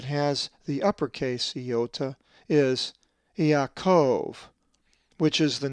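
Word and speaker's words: Ἰακώβ: So this word is pronounced Yaakov.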